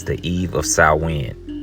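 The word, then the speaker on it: Samhain: as South Wind okay looks like it should say sam Hayne but again it's pronounced salwin okay it's uh it's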